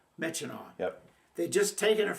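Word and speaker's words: Myitkyina: And they sent us down to Mitchino, Burma. Now, that's not pronounced the way it's spelled. Yeah, I actually know how it's spelled. M y k y i n a. Mitchino.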